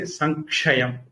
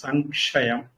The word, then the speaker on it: संक्षयं: here the anuswara can be pronounced as ngakara because it is followed by ik. Iksha is the letter followed, so we can say sankshayam. Samkshayam is little difficult to pronounce, so we can pronounce sankshayam.